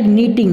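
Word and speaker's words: knitting: I like नीटिंग, नीटिंग में के silent है, इसके को नहीं बोलना है, ये साइलेंट है।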